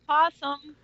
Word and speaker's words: opossum: If you wish to be wrong, it's pronounced opossum. Sure. Yeah. It's spelled opossum. Yeah. It is. But we all just say possum.